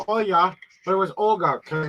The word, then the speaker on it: Olya: oh yeah are you there her name is o l y a that's how she pronounce her name Oya but it was Olga kind of like you